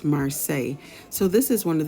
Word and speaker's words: Marseille: I say it wrong a lot of times in this video, but it's pronounced Marseilles.